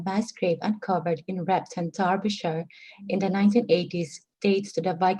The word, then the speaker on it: Derbyshire: Now, one thing before you begin, because some people are asking in the chat box, this word is Derbyshire. Derbyshire.